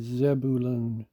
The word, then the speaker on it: Zebulun: vav noon zab Buruon most closely matches the pronunciation given Zebulun and we see it has the meaning exalted